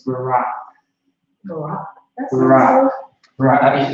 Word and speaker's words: Barak: Yeah, his name, the brother, how you say it in Hebrew is Barak.